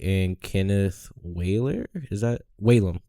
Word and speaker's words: Whalum: Is that Whalum? Whalum, yeah.